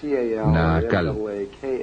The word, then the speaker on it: Naacal: Se llamaba Naacal, N-A-A-C-A-L, o N-A-A-K-L, depende de cómo lo quieran pronunciar.